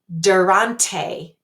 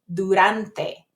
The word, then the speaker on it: durante: So the first word isn't durante, it's durante. And I put THs there to kind of remind you that I'm going to put my tongue here and say durante.